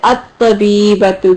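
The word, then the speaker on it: الطبيبة: It's a sun letter, so we notice ta was a sun letter. And you say it, at-tabibatu, good.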